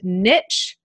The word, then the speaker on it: niche: Cambridge dictionary it's pronounced niche with a teeth niche kind of pronouncing the T in there in American and Canadian English and meesh in British